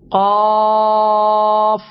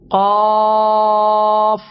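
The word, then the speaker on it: قاف: Pronounced from the root of the tongue, touching the soft part of the palate. Qaf, zabar, qa. Qaf, zabar, qa.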